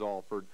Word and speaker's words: Alford: But, you know, I've always made it a pretty big deal that it is Alford.